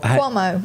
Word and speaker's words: Cuomo: Did I pronounce that right? Or Cuomo? Cuomo.